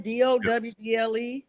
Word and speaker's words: Dowdle: I was thinking about, make sure I'm pronouncing this guy's name right. Yeah, Dowdle. Am I saying it right? Dowdle?